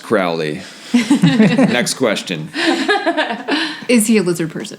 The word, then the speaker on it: Crowley: so the question that I have is it's pronounced Crowley next question is the alizarin he use everything